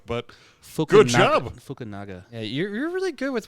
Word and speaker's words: Fukunaga: This is directed by Kari Joji Fukunawa. Cool. I still haven't seen it yet, but I'm really impressed you pronounced that. Yeah, that was I don't know very if it's good. right, but good job. Fukunaga.